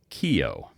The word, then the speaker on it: Keough: Uh it's pronounced Keough. K E O U G H Oh, yeah.